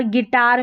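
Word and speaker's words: guitar: गिटार, तो यहाँ पर जो गैस में U आ रहा है, गेस्ट में U आ रहा है, गाइड में U आ रहा है और गिटार में U आ रहा है, ये साइलेंट है, इसको नहीं पढ़ा गया है।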